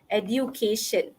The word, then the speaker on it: education: Education. But then the correct pronunciation is edu. Dia macam ada huruf J sikit.